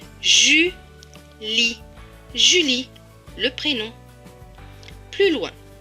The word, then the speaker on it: Julie: Et à la fin, le E ne se prononce pas puisqu'il est écrit en bleu. Donc ce mot va se lire Julie.